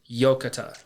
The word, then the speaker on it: Yokatta: And the Japanese word for thank goodness is yokata. And yokata is spelled Yokatta.